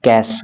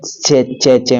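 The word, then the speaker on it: cache: देती है कैश memory pronounced S कैश इसको कैश बोलेंगे ठीक है पहले मैं च चे मेमोरी ऐसे करके बोलता था इस कॉमनली यूज्ड फॉर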